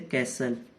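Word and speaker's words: castle: अब मैं आपको टी का बता दूं, कुछ कॉमन वर्ड्स हैं, जैसे कैसल, कोई मतलब नहीं है टी का बोलने का।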